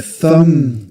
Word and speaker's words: thumb: Thumb the B silent. You don't pronounce it. You don't No, there's no need. Thumb. You only pronounce You only pronounce the m sound at the end.